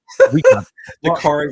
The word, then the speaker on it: Dakarai: Dakarai rhymes with safari.